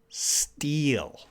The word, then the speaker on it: steel: what is difference between still and steel in pronunciation still steel still very short I sound still still and